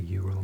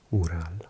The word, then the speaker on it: Ural: The Eural mountains or pronounced Ural as well.